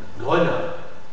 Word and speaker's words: grenat: Par exemple, grenat, venir, grenat. Alors là, il y a le E muet que je dois articuler justement parce qu'il est précédé d'une ou deux consonnes et suivi d'une seule consonne articulée.